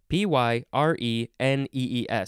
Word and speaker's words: Pyrenees: P-Y-R-E-N-E-E-S.